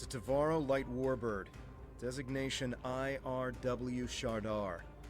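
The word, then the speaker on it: T'varo: It's a Tavaro light warbird. Designation IRW Shardar. They could be Tal Shiar. I've always been wondering how to pronounce that. So it's Tivaro.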